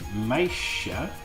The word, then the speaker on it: meisje: And meisje, notice the J here is completely different. That's because of the S. An SJ blend is a sh sound.